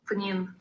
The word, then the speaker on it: Pnin: Pning. That's how it's supposed to be pronounced.